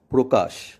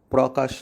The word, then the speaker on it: প্রকাশ: আদ্য অধ্বনি উচ্চারণের পরবর্তী নিয়ম রফলাযুক্ত আদ্য অ বা শব্দের প্রথম অ এর উচ্চারণ সাধারণত সংবৃত বা ও এর মতো হয়। যেমন প্রকাশ, প্রকাশ নয়।